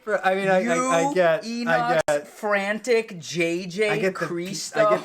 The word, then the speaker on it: Inox: I'm what like, is it, bro? It's Enox.